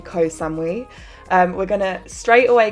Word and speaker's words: Ko Samui: and then fly to Koh Samui I've always said Koh Samui and I found out recently that it's not actually how you say it and it's actually Ko Samui um we're gonna straight